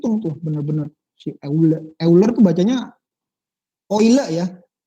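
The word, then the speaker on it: Euler: benar-benar saula berkebun hanya oil ya Eh ular ini bacanya oil bodoh orang Swiss leonhard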